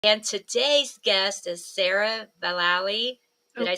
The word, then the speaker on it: Vallely: today's guest is sarah valaoi did i say that right it rhymes with galilee so it's vali valley yeah my lord she's